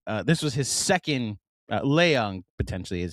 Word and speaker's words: Leong: Uh this was his second Leong potentially is how his last name is pronounced.